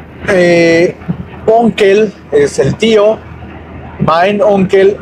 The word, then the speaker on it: Onkel: Onkel es el tío. Mein onkel, mi tío. Y la tía es ditante. Onkel se escribe O-N-K-E-L.